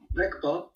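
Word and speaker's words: རིག་པ: Rigpa ou Rekpa? Attention. Rekpa. Ah, c'est beaucoup mieux.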